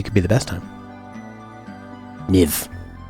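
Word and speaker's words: Kyiv: Niv. Like give. Kuniv. I was pronouncing it how I would pronounce it if I was in Hungary or Europe.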